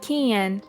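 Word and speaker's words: 禁煙: For example, careful with the pronunciation of 禁煙. Native English speakers tend to put too much N sound into it, which is a common mistake.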